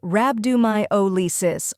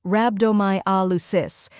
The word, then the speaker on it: Rhabdomyolysis: the correct pronunciation is rabdo my Alis first part RAB rhymes with tab second part do like